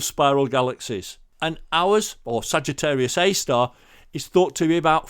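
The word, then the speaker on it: Sagittarius A*: and it is pronounced sagittarius a star the little star of the asterisk is part of its pronunciation now the moon is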